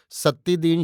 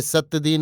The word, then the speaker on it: सत्तीदीन: यद्यपि बंगालियों को सत्तीदीन शब्द के उच्चारण में अड़चन थी, वे सत्यदीन या सतीदीन कहते थे।